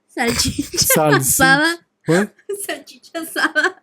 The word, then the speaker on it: salchicha: salsicha. I'm sure she's already mad. What's it called? I said it wrong. Salchicha.